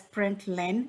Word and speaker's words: println: len now print len this is pronounced as print len it means print in a new line ln stands for printing a new line and it's called as println and now i'm going